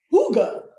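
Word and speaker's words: hygge: it in our homes i know it's not pronounced hickey it's spelled higgy it's this hipster swedish word that means the art of getting cozy in your home it's actually pronounced hugo but that's just not as funny so i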